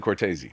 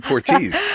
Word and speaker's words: Cortese: to be confused today how do you pronounce it Cortez I'm just gonna go with Cortez but my uncle's growing up my dad's Brothers pronouncing Cortese I was just gonna